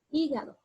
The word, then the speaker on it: hígado: Ahora esta palabra de aquí, hígado. Hígado, yo elevo aquí la voz, entonces esa es mi sílaba tónica, por regla gramatical me va a decir es una esdrújula y debo colocarle tilde.